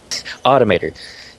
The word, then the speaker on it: Automator: Automator is the pronunciation I'm looking for there.